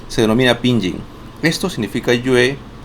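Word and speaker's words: 月: Entonces esto en chino mandarín se pronuncia yue que significa luna.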